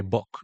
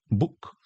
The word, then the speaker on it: book: Entonces no se lee boc, se lee book.